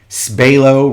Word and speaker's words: Spalo: And I'm going to get everybody's favorite up here, Vic Spalo, rhymes with J-Lo.